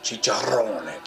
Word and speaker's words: chicharrones: rinds chicharrones chicharron what how do you say that chicharrones chicharrones gotta roll your arse chicha from tastes nothing